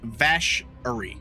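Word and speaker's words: Vacherie: film students went to I thought it was best Sherry but the the Gen pronounces it a little bit later and it's vashery so it's vashery oh Louisiana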